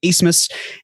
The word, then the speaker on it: Asmus: It looks like Abmas, but it's pronounced Asmus.